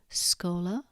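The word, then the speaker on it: schola: SC is pronounced as the SK in school, unless it's followed by E or I when it's pronounced sh, for example, scola, but descendit.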